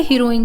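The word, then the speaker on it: heroin: ओ आई एन ई अब देखिए एच ई आर ओ आई एन इसमें सिर्फ ई नहीं है स्पेलिंग हमारी ऑलमोस्ट सेम है और इसको हम बोलेंगे हीरोइन जिसके लास्ट में ई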